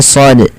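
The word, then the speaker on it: ص: Kalau hurufnya di sini kan huruf shad, nah seperti ini ya, seperti ini shad. Nah, cara membacanya adalah kita memanjangkan shadnya ini sepanjang so-nya sepanjang 6 harokat, karena di sini ada namanya, kita namakan dengan mad lazim harfi mukhaffaf ya.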